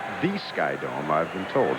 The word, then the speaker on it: SkyDome: Thorne and myself will be at Skydome. It's not the Sky Dome. I've been told it's not the Sky Dome. It is Skydome next Wednesday.